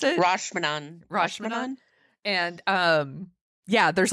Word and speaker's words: Rashomon: So I watched Akira Kurosawa's Rosh Hashanah, I think is how you pronounce it. Rashomon.